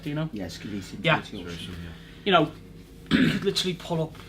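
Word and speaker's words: Sceletium tortuosum: you don't really see in pre-workout, things like Scillium tortosum. Am I pronouncing that correct, Dino? Yeah, Scillium tortosum.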